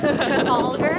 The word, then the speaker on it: Trafalgar: Trafalgar.